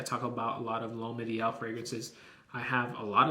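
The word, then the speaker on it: L'Homme Idéal: Thank you, Poe, for the pronunciation the other day. L'Homme Ideal L'Intense.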